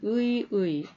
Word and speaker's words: 의의: 자, 이럴 때는 의 그대로 납니다. 첫 음절에 온 의이기 때문에 그때는 그냥 의만 발음을 합니다. 그런데 뒤에 오는 의는 어떻게 된다고 했죠? 토의 할 때와 마찬가지입니다. 계몽주의의 의의 두 개 다 가능합니다.